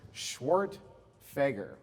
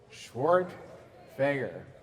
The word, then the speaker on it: Schwerdtfeger: who are curious uh my last name is pronounced schwart fager come on schwart fager just jumping right in